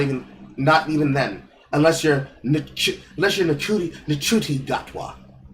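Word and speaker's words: Ncuti: Unless you're Nachuti Gatwa. I think it's pronounced Shooty. It's pronounced Shooty, but I want to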